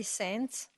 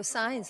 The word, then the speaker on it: Signs: much thank you saint i'm sure i mispronounced that so forgive me oh signs like a sign okay thank you good